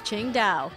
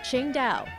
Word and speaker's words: Qingdao: better known to drinkers around the world as Ching da when German Workers built the local Railroad and